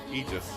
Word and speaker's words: Aegis: How do you pronounce it, Lobo? Aegis, yeah.